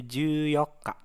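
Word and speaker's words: じゅうよっか: yaitu di tangga 1420 dan 2414 bahasa Jepangnya juuyokka tanggal 20 hatsukare tanggal 20 fatni juuyokka dalam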